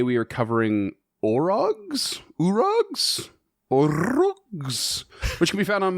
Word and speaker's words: Orog: Um and I have spent my entire life pronouncing this urug but I don't think that's accurate so we're going to go with Urug or Orug.